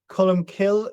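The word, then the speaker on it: Colm Cille: Cullum kill and cullum kill means the the cullum is a dove and kill is either the wood or the church.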